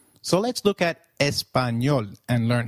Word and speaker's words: español: The letter A is pronounced as A, as in father. Did you notice the letter ñ in Español? This letter is peculiar to Spanish. It is pronounced as ni, like in canyon.